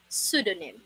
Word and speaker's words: pseudonym: is it really pronounced it should be pronounced as listen carefully sudanim pseudonym again pseudonym pseudonym letter p here is silent all right silent letter